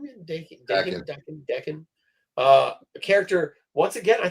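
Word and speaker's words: Daken: Dakin.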